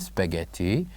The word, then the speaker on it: spaghetti: it a spaghetti and the word spaghetti has uh silent letters has one silent letter repeat it after me spaghetti spaghetti so there is one silent letter we didn't say in this word do you know what it is of course it is letter H so this is what